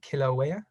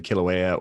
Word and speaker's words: Kilauea: right and i did a project on i'm butchered the name so i apologize is it kilauea yeah we had a bunch of vog come